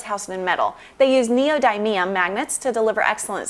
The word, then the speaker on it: neodymium: They use neodymium magnets to deliver excellent sound.